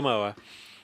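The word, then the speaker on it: Ngumoha: Is that how you pronounce his Ngamoa, name? yeah. Ngamoa.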